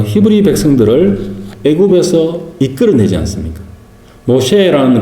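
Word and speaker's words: משה: 모셰 밀크쉐이크 할 때 쉐 있잖아요.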